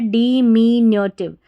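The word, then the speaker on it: diminutive: तो यहाँ पर NU जो है ना, इसको न्यू नहीं पढ़ना, न्यो करके पढ़ना, न्यो।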